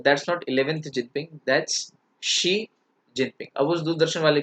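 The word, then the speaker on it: Xi Jinping: शी जिनपिंग, तो China में एक्स आई को शी बोलते हैं। देखो, या एक्स का प्रोनाउंसिएशन श के रूप में होता है, एक्स आई का श के रूप में। तो अब ये क्या है, ये शी है, शी जिनपिंग। जैसे शाओमी, एक्स आई ए ओ एम आई, अब ये जियाओ में नहीं है, दिस इज शाओमी। तो ये श का प्रोनाउंसिएशन जाता है एक्स का, तो इट्स शी जिनपिंग।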